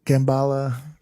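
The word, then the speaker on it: Kamala: They thought I was saying it wrong when I said Kambala. I was not.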